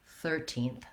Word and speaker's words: thirteenth: next stress is and on the 13th we have the letters ir and the sounds er the er sound so i'll write that um with an er third it's just like the word third or maybe you also